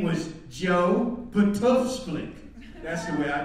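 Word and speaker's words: Btfsplk: In our West Indian household, that's the way we pronounced the word. You know, in Colorado, I don't know how you pronounced it, but there were no vowels in it. It was a P-T-F-S-P-L-K. That was the word.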